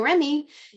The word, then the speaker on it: Remy: So Remy is actually my EKG reading German Shepherd. He was literally named to rhyme with STEMI with Remy.